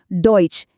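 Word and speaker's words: Deutsch: और आखिर में हमारा आज का हीरो शब्द डोइच यह है डॉइच बहुत बढ़िया और देखिए इन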